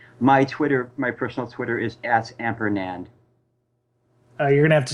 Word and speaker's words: Ampernand: And my personal Twitter is at Ampernand. You're gonna have to spell that one, brother. I know. It's AMPERNAND. Okay. It's like ampersand, but with N.